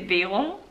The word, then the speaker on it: Währung: But then Währung, I almost pronounce it with an E, Währung. I don't say Währung, I say Währung.